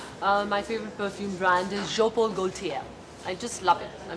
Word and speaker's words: Jean Paul Gaultier: Well, it's written as Jean Paul Gaultier, but एक तो it's Bangla मुझे pronounced कैसी? Jean Paul Gaultier.